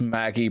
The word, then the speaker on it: Magi: yall watch um okay they say it's Maggie but it's spelled Magi mgy yes yes yeah mgy